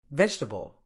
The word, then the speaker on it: vegetable: but Brit say schedule vegetable it's not V EG table it's vegetable debt the beat is